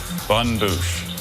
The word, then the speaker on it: bonne bouche: purchased a selection of sweet bun bouche alternative pronunciation I see just the